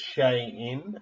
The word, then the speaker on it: Xi'an: to spell this, but I think it's Xi'an is how you pronounce it, but it's Xi''In.